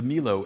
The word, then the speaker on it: Milo: And so Milo, Venus de Milo, M-I-L-O, if you pronounce it Milo, you can also say Milo, 1,000 waters.